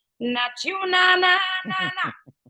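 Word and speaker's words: nat: finger, and you say, "Not you, na na na na." Not you, na na, and I put the Antigua dialect in there. Not you, and it's spelled N-A-T, you.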